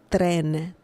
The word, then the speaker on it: tren: But in this situation, we have only one R, and the pronunciation is tren, tren, tren. Tren, okay? So it's a soft R sound.